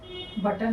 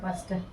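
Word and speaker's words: Buster: Ghost বাস্টার? বাটার না, বাস্টার।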